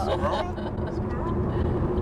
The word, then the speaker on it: squirrel: To imagine a word spelled SQRL.